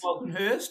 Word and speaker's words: Walkenhorst: You can pronounce it Walkenhurst or Walkenhorst. Walkenhorst.